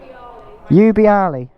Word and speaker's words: Ubbiali: How do I pronounce it again? Ubbiali.